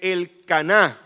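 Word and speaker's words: Elcaná: Y el capítulo 1 de Primera de Samuel dice que el Caná con acento en la última A, el Caná y Ana fueron sus padres.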